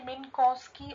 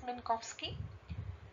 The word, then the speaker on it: Minkowski: another inequality minkowski's inequality you can call it mean cost key also but one of the pronunciation is minkowsky now this inequality states